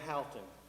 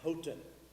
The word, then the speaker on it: Houghton: i have been corrected it's not dan halton it's dan houghton and he said it upset him when people said his name incorrectly actually i asked him